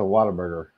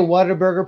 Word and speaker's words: Whataburger: The only thing worth in Texas is a Whataburger.